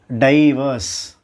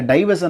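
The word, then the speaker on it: divorce: இந்த டைவர்ஸை நாம் டைவர்ஸ் அப்படின்னு ப்ரொனவுன்ஸ் பண்ணக்கூடாது. உண்மையான உச்சரிப்பு தன்மை சரியான ப்ரொனன்சியேஷன் என்ன அப்படின்னா டிவோர்ஸ். நாட் டைவர்ஸ், இட்ஸ் டிவோர்ஸ்.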